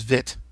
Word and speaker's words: Vite: spell it, which is Vite. Apparently the E is silent and it's short I.